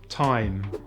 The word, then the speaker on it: thyme: technology mechanic chaos ache sometimes the h is silent in th such as thailand time asthma thomas and the